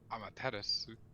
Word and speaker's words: Amaterasu: there's you don't normally the u is like a weird half silent u which happens a lot in in asian language i've learned um how